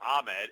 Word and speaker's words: Ahmed: It's spelled Ahmed, A-H-M-E-D, but pronounced Ahmed, former Washington Husky.